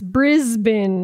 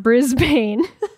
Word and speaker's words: Brisbane: It's Brisbane, not Brisbane. Or affectionately, Bris Vegas, like Las Vegas.